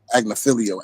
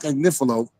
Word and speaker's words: Agnifilo: She keep pronouncing Mark. I said that because she be saying that, Mark Agnifilo, adding extra syllables on this man's name. His name is Mark Agnifilo. So Mark Agnifilo asked the judge for 24 months.